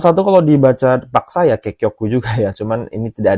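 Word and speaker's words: 結局: Kekyoku ya. Yang benar di soal ini itu nomor dua minasani bangs ini bacanya kekyoku kekyoku.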